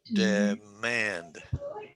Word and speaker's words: demand: i'll go d manned demand okay and if i say the word okay so that is a 2 2 word two syllables emphasis on the second syllable so we call it